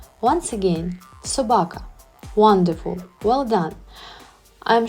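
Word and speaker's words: собака: and protector let's try to learn how to pronounce the World talk in Ukrainian Sabaka once again Sabaka wonderful well done I am sure that broco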